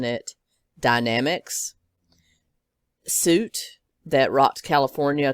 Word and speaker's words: Dynamex: I'm going to be pronouncing it Dynamex.